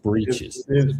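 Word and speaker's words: breeches: It's pronounced breaches.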